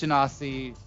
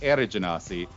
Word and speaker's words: Genasi: say well well irish anasi um i'm sorry i'm pronouncing that wrong again genasi um uh did 300